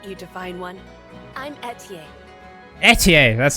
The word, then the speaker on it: Etie: Etier, that's how you say it.